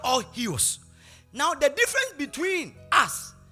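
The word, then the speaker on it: υἱός: The spelling is U-I-H-O, but the pronunciation is huios. Say huios. Now go to Romans chapter 8, verse 14 for me.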